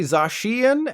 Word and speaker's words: Zacian: You probably said Zacian and Zamazenta, right? Well, I've got even more bad news. It's actually Zacian and Zamazenta.